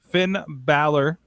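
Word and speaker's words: Finn Bálor: angle listen you've all been through this it is finn balor we haven't all been through this we have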